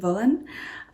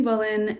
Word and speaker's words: Wohlen: We went to Wohlen, I believe it would be pronounced in German, Wohlen.